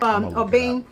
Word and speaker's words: Obeng: Obeng. But this vlog is mostly about when people pronounce your name and you know they are murdering.